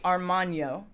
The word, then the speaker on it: Armagno: Armagno.